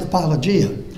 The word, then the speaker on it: apologia: and then it had in here and it's pronounced apologia but it means a verbal defense and it's